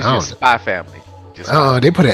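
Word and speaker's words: SPY×FAMILY: So kind of like the way they throw it, Spy Times Family, but it's pronounced Spy Family.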